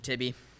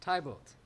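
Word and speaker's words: Tybalt: art a villain sorry how do you say your name it's tibble man ah yes tybott villain i am none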